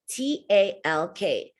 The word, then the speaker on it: talk: on the phone chuck t-a-l-k the l is silent and the a is a short a sound talk check your words below you got 15.